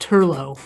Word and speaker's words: Turlough: de l ba CH so it looks like Troy debauch but it's pronounced Turlough you should have brought